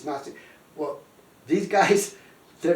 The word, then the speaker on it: Gnostic: it's Gnostic but anyway it's not way ntic but it's notic well these guys they're